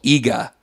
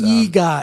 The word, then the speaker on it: Eegah: The first movie they did was actually a movie that Mystery Science Theater had done before called EGA, which is EGA. It's spelled EEGAH.